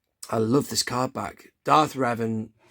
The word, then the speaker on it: Revan: it comes there is ravan some people people pronounce it ravan don't they Darth ravan it's Revan isn't it look at him what a badass